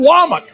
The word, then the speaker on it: Wac: kayin dear and Kane wak it's spelled wac but he says wak because that's what we